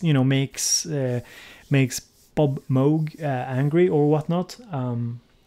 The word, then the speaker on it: Moog: funny people are like it's the same with the mug and Moog it's you know in Sweden people say Moog it's I haven't seen I don't think ever met a Swede saying mogh and whether or not